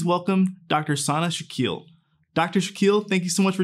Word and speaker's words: Shaquille: my name is Dr Shaquille and yes it is pronounced as Shaquille O'Neal I was born and raised